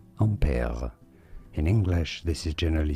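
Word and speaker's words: Ampère: you say it well in french his name is said as ampere ampere in english this is generally said one of two different ways either in british english ampere ampere or in american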